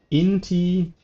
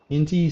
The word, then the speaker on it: Inti: Oh, Inti Seneschal of the Sun. Inti Seneschal of the Sun. Okay, I was not butchering it.